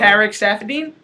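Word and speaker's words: Saffiedine: to see him fight uh Tariq stafin T safine that's how you say it yes that's how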